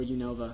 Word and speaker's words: Unova: about why univa or Unova I don't know univa univa that's how it's pronounced in the anime shut um univa is